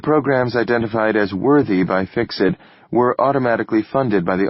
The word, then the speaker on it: FCCSET: "Fuckset?" No, they pronounced it Fix-It, laughing.